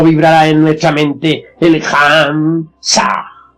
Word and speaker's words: Ham: Ham se escribe con las letras H-A-M.